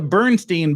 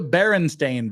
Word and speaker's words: Berenstain: But we all know that it's not the Bernstein Bears, it's the Berenstain Bears. And that was the thing that the Berenstain Bears Mandela effect is a real thing.